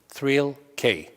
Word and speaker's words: Thrill-K: three levels knowledge or it sounds phonetically like thrill k and the first level